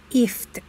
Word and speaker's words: IFTTT: web-based application called ifttt this is pronounced as if and then the meaning of